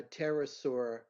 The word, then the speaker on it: pterosaur: can't you hear a pterosaur go to the bathroom want me to answer it do you know the answer because the p is silent that's right only i